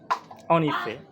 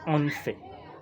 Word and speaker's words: en effet: Il ne faut pas lire en fait. Il faut plutôt lire en effet. Il faut prononcer en effet. Pas en fait.